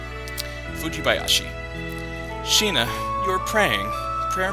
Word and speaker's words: Fujibayashi: But it's really not that hard to pronounce. Fujibayashi.